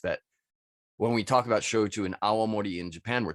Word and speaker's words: shochu: not Soju all right Japan makes shoju s-h-o-c-h-u just pronounce it like those two verbs s-h-o-w and c-h-e-w and you're 99 of the way there um but that's that's